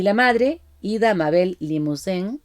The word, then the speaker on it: Limousin: la madre, Ida Mabel Limousin, y lo pronuncio así porque era de origen francés, era birmana, había nacido en Birmania.